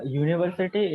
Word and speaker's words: university: So, university is pronounced as U. It's YEW, I think.